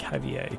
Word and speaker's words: Javier: Javier, the J is pronounced more or less like you'd pronounce a H, so more like Javier.